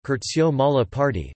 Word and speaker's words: Curzio Malaparte: Curzio Malaparte, Italian pronunciation, Curzio Malaparte, the 9th of June 1898 to the 19th